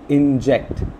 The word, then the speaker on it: inject: Similarly, words start ending with ct, connect, inject. So we find the second syllable of these words to be stressed.